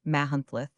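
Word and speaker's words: Machynlleth: The situation of Mccunath or as it is pronounced by the Welsh Mahunlth is extremely romantic.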